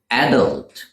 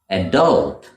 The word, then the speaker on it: adult: the UK they say adult with the stress on the first syllable adult but in the US you would hear it pronounced adult where the stress falls